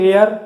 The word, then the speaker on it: heir: ওটা হেয়ার নয়, সরি, ওটা এয়ার উচ্চারণ হয়, HEIR উচ্চারণ হচ্ছে এয়ার, মানে হচ্ছে উত্তরাধিকারী।